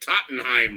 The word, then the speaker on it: Tottenham: here come on Minnie it is Tottenham but it's it's spelled like Tottenham or something ridiculous but it's Tottenham you know I realize